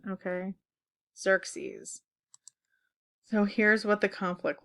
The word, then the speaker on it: Xerxes: later in 480 BC by the way this name is pronounced Xerxes okay Xerxes so here's what the